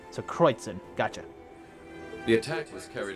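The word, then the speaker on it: Kreuzen: Okay, so it's pronounced Kreutzen. Sorry, I didn't mean to cut in there, but I wanted to know how it's pronounced. So Kreutzen.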